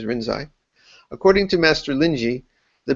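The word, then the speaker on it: Rinzai: according to master lyi that's the Chinese way to pronounce rinai the Japanese way is rinai according to master lyi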